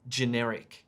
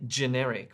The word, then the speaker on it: generic: saying something about something generic right but he didn't say generic with the j emphasis he said generic generic and for a second